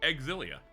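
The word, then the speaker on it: Xillia: Also, it gives me an opportunity to hammer into my head that that game is in in fact pronounced Exilia, a thing I did not know when I first played it.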